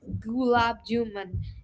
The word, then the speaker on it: gulab jamun: It's not gulab jamun. It's gulab jamun. Gulab jamun. Okay, there we go. Now I've been Gulab mispronouncing it for too jamun. long. Gulab jamun, not man. It's gulab jamun. Gulab jamun. Un, u, Un. gulab jamun. Like the moon that's in the sky.